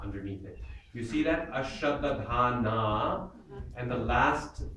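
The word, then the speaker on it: अश्रद्दधानाः: Ashraddadhana purusha. Ashraddhana purusha. Ashraddadhana purusha. Ashraddhana purusha. It's a double D in the first, second syllable, so you want to spend double time on it.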